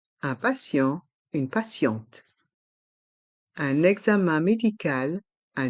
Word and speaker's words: examen: Un examen. Et le X se prononce examen, comme si on rajoutait un Z, un examen.